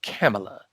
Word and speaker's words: Kamala: to say about camella i'm sorry i've been pronouncing her name wrong so now i understand it's camella so kamala harris literally